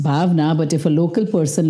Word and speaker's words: Bhavana: no it's right pronunciation it's supposed to be pronounced bavana but if a local person looks at it they will definitely pronounce bana which I was not okay with I don't